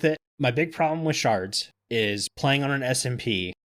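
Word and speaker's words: sherds: I'm saying shards because I found out, even though it's spelled shards, yeah, it's still pronounced shards.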